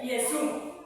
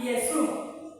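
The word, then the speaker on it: Ἰησοῦς: Jesús en el idioma original de griego significa Yesú. Casi Yesu. Casi lo mismo. Yesú con i. Yesu. Lo pronuncia con i.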